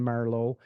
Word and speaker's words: Marleau: Marleau. is that how you say your last name? Yeah, actually, your Canadians always say it right because it is French Canadian.